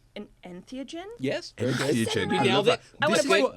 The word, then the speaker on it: entheogen: An entheogen?